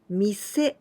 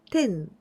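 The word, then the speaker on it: 店: kanji is this one mise shop store and sometimes we can pronounce ten here we use the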